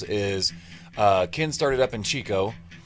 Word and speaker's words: Chico: And the thing that's kind of cool between what I like about those two parallels is Ken started up in Chico. Chico, yeah.